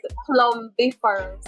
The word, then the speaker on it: plumbiferous: The word is plumbiferous. Oh no, they pronounce the B.